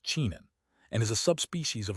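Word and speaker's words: 沉香: In Chinese, what I'm translating as Agarwood is pronounced chenxiang and is a subspecies of a type of a fragrant tree that in English is called Agarwood.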